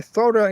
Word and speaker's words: Zora: Kal de la Thora where Thora is spelled like Zoro but with an a at the end z o r a Cove of the we'll